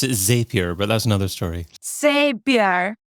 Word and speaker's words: Zapier: I think they say Zapier. But I pronounce it in a Latin American way. Zapier. Okay. Many people in the UK pronounce it Zapier, but that's another story.